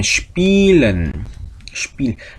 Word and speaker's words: spielen: 그 다음에 spielen. 자, 이와 에가 같이 있으면 이 하고 길게 발음되는 되는 장모음이 된다 그랬죠.